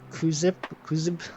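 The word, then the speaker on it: Kuxib: Welcome in Stanley, Nutritious, TY Onion, Hamflow, Kuzib. I think I pronounced it correctly. I remember I asked last time. The Z, sorry, the X is pronounced like a Z.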